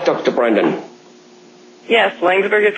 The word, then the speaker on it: Laingsburg: an optometrist from uh lburg Michigan did I pronounce that right Dr Brendan yes lburg is correct okay where where in in relation